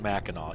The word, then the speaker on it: Mackinac: Same thing with Mackinac. It says it's... They actually have... There's several spellings for it, but it's pronounced Mackinac. Even with the C, it's pronounced Mackinac.